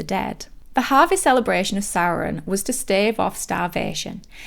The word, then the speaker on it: Samhain: out that in my Halloween episode, I incorrectly pronounced it Samhain because that's how it's spelled. So I just want to apologise for that and just correct myself and say that it is actually pronounced Samhain.